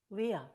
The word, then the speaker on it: Leah: back Kathy hi Leah is it Leah or Leia I have a girlfriend who's like Leia like Princess Leia okay okay Leah she is here Leah